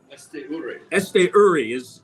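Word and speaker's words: Esteury: I haven't looked at the pronunciation guide. It used to be last year Esture. Now it's Esture, right? Esture is the way we're going.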